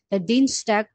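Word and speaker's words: Dienstag: যখন পাশাপাশি একসাথে থাকে তখন কি ইর মত উচ্চারণ হয় ডিনস্টক আচ্ছা এরপরে আমরা যাই এরপরে এইযে দিনের বিভিন্ন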